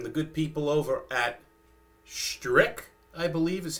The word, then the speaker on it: Strich: companies have been, but I believe the ch is hard. It's a strick or stra uh streak as they pronounce it in Germany.